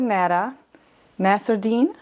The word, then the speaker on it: Lena Nasserdeen: Hi guys, we're here with Lena Nasserdeen. Yeah. Did I pronounce it?